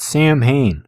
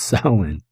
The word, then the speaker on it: Samhain: golden sickle and this festival of samhain not hayne this isn't glenn danzig's band it's pronounced silent uh was all about the dead and it